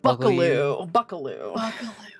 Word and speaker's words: Buckaloo: Blomsky Buckle You, I think is how it's said. Buckaloo. That's right. Blomsky Buckaloo.